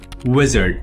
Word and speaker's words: Uizard: at this tool called wizard it's called wizard but it's spelled like UI zard which is kind of like a clever play on the UI like user interface anyway all we're going to